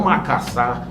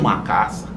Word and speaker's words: macaçá: Trabalhei com feijão macaçá, e o nosso povo chama de macaça. Macaçá, né? A melhor pronúncia é essa.